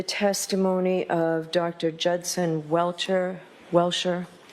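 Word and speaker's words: Welcher: to exclude the testimony of Dr Judson Welter welshire how do you pronounce his name Mr Brennan welchire welchire and the Commonwealth's opposition so who's arguing for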